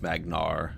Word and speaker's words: Magyar: is your turn Magyar so the J is silent so it's just magner okay there's just there